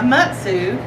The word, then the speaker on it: Mutsu: a lot like a mutu and a mutsu or excuse me uh correct pronunciation Mutu but in the South we put the southern twang to butsu uh and it looks